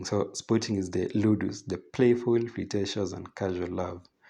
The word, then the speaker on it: ludus: this is from Latin so ludus St that's the pronunciation ludus is a playful